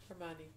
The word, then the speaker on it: Hermione: That's how you pronounce her name. Hermione.